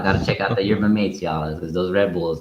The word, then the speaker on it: yerba mate: I think it's pronounced yerba mate in the actual the actual pronunciation, but I hear people calling it yerba mate.